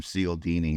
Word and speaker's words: Cialdini: Dude, I heard a quote from Cialdini the other day, Robert Cialdini, author of...